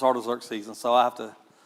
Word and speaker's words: Artaxerxes: my dyslexic mind, when I read that, I want to say something else, but I know that it's Artaxerxes, and so I have to remind myself.